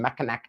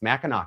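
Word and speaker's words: Mackinac: You had a fur trading post on Mechanak Island. And I'm from Michigan, so I know it's actually pronounced Meno because it's French.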